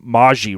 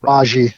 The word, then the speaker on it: Maggi: last name right, but it's Rob Maggi, right? Is how you pronounce it. Rob Maggi.